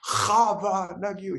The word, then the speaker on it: Hava Nagila: He was like, you need to say it like this. Chava Nagila. He made it. He's like, it's in the throat.